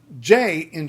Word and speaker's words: Jin: So that is jin. It's jin with the J sounding like J. A lot of English speakers will look at J in other languages and think, well, there's no way it could be J.